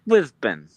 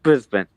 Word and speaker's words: Brisbane: Well, is it's Brisbane. I I I Yeah, you don't hear many people say Brisbane. It's Brisbane. Yeah. Yeah. You don't say the A. You don't really say the A like you would.